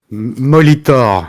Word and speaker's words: Molitor: do you pronounce that molitor in france a monitor yeah uh in english and um molitor is